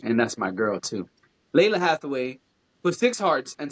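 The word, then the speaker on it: Lalah Hathaway: Uh, Lana Lana Hathaway put five hearts. One, two, three, four, five, six hearts. I don't know why I pronounced her name wrong. And that's my girl, too. Leila Hathaway put six hearts and said 35 years in counting.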